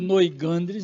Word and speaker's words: Noigandres: Da publicação da revista Noigandres. Gandres, né? A gente gostaria até de pronunciar em francês, mas já pegou Noigandres mesmo, pronto.